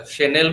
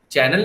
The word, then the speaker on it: Chanel: अच्छा, शेनेल की स्पेलिंग क्या है? CHANEL। उसको क्या पढ़ते थे, क्या पढ़ते थे तुम लोग? Chanel। चैनल नहीं पढ़ा किसी ने?